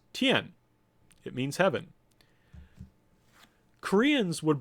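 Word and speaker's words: 天: this character is pronounced that means heaven is pronounced Tian it means heaven Koreans would borrow Chinese but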